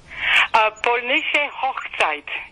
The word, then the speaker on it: Polnische Hochzeit: But how do you pronounce it? Polnische Hochzeit.